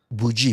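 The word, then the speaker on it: boujee: cat more often than than cat but yeah bji bji bji is like very can you hear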